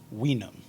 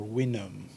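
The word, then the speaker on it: vinum: would have been pronounced weenum or we knew or wenum the v being a w sound in latin it does uh the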